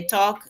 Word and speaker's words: talk: Por ejemplo, volviendo al ejemplo del inglés, bueno, nos cuesta pensar que talk se puede escribir con l si no pronunci no pronunciamos la l.